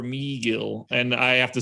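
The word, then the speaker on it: Megill: meagle yeah i guess mcgill i don't know it's like they ch it's like they changed both letters that were normal to me instead of him being tyler mcgill he's like ty lor meagil and i have to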